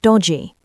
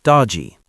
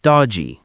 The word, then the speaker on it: dodgy: Pronunciation stresses the first syllable, dodgy. The G sound is soft, almost like G. Not dod-G, but dodgy, quickly spoken.